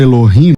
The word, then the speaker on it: Elohim: Você, ao invés de você falar Elohim, você falou Eloim. Aí eu queria saber por elade vou falar assim porque não posso pronunciar. Ah, Elo, depois rim eu não posso.